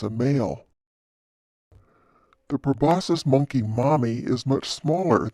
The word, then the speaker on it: proboscis: the snoot is called proboscis and the word rhymes with Colossus which means really really